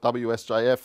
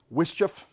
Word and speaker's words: WSJF: nice big mouthful so some people call it wsjf it's still a bit of a mouthful um wisch is a pronunciation many of us use um I did work